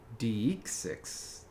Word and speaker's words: deixis: Curious what Patrick thought deixis was pronounced like. Oh, pronouncing the first part as 2 syllables like deism. Wow. Deix6.